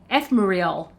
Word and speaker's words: Ephemeral: And if I'm telling you, it's pronounced Ephemeral.